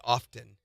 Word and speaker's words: often: I'm obsessing a little bit over how I say often. What's wrong with often? Well, most people just say often or often. Do they pronounce the T? Often. I do.